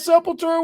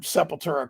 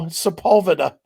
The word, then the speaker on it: Sepultura: right and you've heard Sepultura called that as well haven't you oh yeah absolutely people are just dumb just look at the name and sound it out the way it's spelled but no Sepulveda how do you come